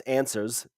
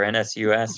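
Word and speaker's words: NSUS: move on to uh NS us which is pronounced as answers GG poker also they bought the World Series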